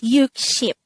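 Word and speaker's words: 육십: ship so 60 or 6 times 10 is actually pronounced as you ship so when we say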